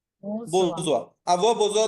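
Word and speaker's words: besoin: আবহাওয়া দরকার নাই, বোঝোয়া, এটার উচ্চারণটা কি হবে? বোঝোয়া, বোঝোয়া।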